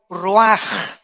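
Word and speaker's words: רוח: La palabra que se usa aquí, 4 vientos, es la palabra hebrea ruaj, o se escribe ruach, que es como se traduce la palabra espíritu.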